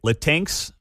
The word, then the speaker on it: Latinx: to ditch terms like latinx Latin X some may call it Mark always corrects me on this Latin X is the proper way to say it and even Dei altogether